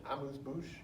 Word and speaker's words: amuse-bouche: they call, and someone correct me if I'm pronouncing this incorrectly, an amuse-bouche?